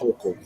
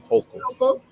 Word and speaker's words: Hochul: Hokel. Hochul, Governor Hochul has these 100 licenses designated for people who have passed marijuana charges.